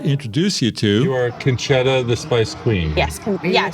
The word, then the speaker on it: Concetta: You are Concetta, the Spice Queen. Yes, so you're saying it correctly. Yeah. However, I am from Texas, and so I say my name Concetta.